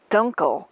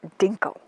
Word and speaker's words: Dunkle: Correction, I believe the correct pronunciation is Dunkle and not Dinkle.